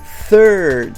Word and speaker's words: third: so when you say you have to say third and push the sheet third but when you